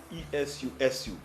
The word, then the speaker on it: Esusu: Now the word susu derived its name from the West African language of the Yoruba, which is spelled E-S-U, E-S-U-S-U, and is pronounced Esusu.